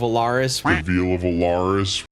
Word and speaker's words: Alaris: the veal of Alaris see I learned how to say it properly it only took a couple decades and a whole mob of people on the internet telling me how wrong I said it I learned now while